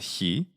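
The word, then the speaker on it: χι: which is represented by the Greek letter Chi which is how we usually call it in English in modern Greek is called he we can see that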